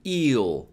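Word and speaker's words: え: E is pronounced like E in eel. You have to be careful here because in eel, it's a long vowel, eel. Whereas in Japanese, it's a short one, E.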